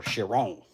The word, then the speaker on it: Chiron: Little Bugatti Chiron. Or Chiron, if you pronounce it in the proper France.